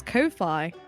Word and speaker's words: Ko-fi: I've been pronouncing that as Ko-fi. I have no idea how you're supposed to pronounce it. I just know it's supposed to be like coffee, like you're buying someone a coffee.